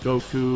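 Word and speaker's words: 悟: so you see like Goku and Krillin wearing this all the time Goku's kanji is actually pronounced go this means wisdom or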